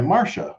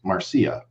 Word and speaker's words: Marcia: posted a video about marcia fudge i was pronouncing it marcia because it's okay a-r-c-i-a okay and and somebody corrected me and they said well actually it's pronounced marcia and i was like well